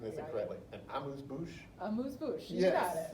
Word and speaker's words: amuse-bouche: they call, and someone correct me if I'm pronouncing this incorrectly, an amuse-bouche?